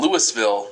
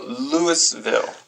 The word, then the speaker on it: Louisville: south are called Louisville but people in Louis Ville Nebraska get pretty mad when you call it Louisville this is silly there are other syllables in there right right okay so Lewisville Lewisville right uh what